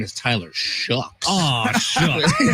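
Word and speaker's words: Shough: A shook. But it's spelled show.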